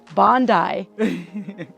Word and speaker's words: Bondi: corrected us and we know now how to pronounce Bondi o do I know how to pronounce kooi